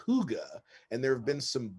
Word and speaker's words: hygge: something a concept that comes from denmark called hygge tell me more okay so i just heard